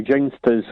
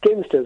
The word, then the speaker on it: Ginsters: Ginsters or ginsters? It's ginsters, obviously.